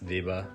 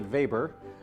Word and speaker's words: Weber: In German, we pronounce the name Max Weber. He's best known for the Protestantismus-Kapitalismus these. As an American, we'd see this name and think his name is Max Weber. It's really Weber.